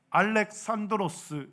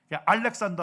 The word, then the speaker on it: 알렉산드로스: 그리스 말로는 알렉산드로스 이렇게 얘기해요. 그래서 요즘 이제 교과서나 책들이 뭐예요? 헬라어로 많이 발음을 해요. 알렉산더 하면 영어식 발음.